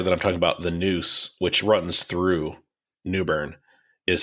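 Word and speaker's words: Neuse: clear the river that I'm talking about the Noose which runs through Newburn is spelled NE I believe it's a Native American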